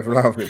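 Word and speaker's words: Vlahović: I can't pronounce his name. Yeah, Vlahovic.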